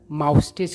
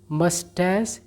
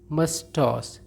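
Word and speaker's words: moustache: देखिए बहुत लोग इसका उच्चारण माउस्टेज करते हैं, वह गलत उच्चारण है। सही उच्चारण होता है मस्टैच या फिर मस्टॉस, और इसका अर्थ होता है मुछ।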